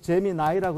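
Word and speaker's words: Gemini: 영어로는 제미나이라고 읽는데, 제민이라고 하는 것이 제가 어렸을 때 맨날 미국에서 뭐 로켓 뭐 쏘았다 했을 때 제미니 매트, 아폴로 매트였어요.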